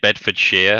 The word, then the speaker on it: Bedfordshire: asking he's guessing bedfordshire that's such an american pronunciation so we would say bedford sheer like uh the best